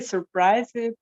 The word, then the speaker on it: surprised: I was really surprised when I heard it. Yeah, but surprised, shorter, yeah? We don't pronounce E.